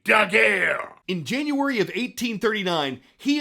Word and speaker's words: Daguerre: That's exactly how you should say his name, Daguerre.